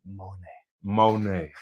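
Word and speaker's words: Monét: You gotta say her name like say Monet.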